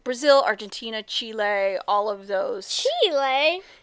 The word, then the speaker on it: Chile: what it sounds like does it sound like the chili pepper yes No Chile Chile but it's spelled a little bit differently it's but with ch il not with an eye on the end yeah so anyway so